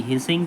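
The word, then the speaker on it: phishing: cyber law यानी कि पी एच आई एस एच आई एन जी हिसिंग P silent है इसमें इसका क्या सही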